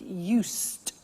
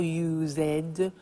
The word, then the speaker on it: used: listen to the pronunciation I said used with T sound used not use it or use ed used that's very important that distinguish it from the other verb use okay used the next